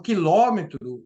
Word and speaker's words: quilômetro: O quilômetro, ele tem, o substantivo quilômetro, ele tem um acento circunflexo, porque ele é uma proparoxítona, palavras que têm a antepenúltima sílaba tônica mais forte, e por isso toda a proparoxítona é acentuada.